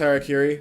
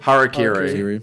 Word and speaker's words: Harakiri: How do you make it- pronounce the album? I was gonna say Harakiri? That's Harakiri. Harakiri.